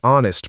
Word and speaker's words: honest: She is a honest person. Trick again. It should be an honest person because H is silent.